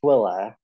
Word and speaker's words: Tooele: It's pronounced Twilla.